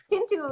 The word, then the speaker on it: Chintu: How do you say his name? Is it Chintu? Chintu? Chintu, yes.